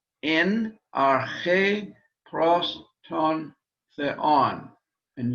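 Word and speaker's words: ἐν: Hutos, this one, it means, hutos ein en arche pros ton theon. And did you notice the difference in pronunciation between ein and en, eta and epsilon?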